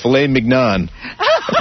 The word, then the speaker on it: filet mignon: how about tenderly aged filet mignon? Dick. You're an asshole. You don't say... How do you say it?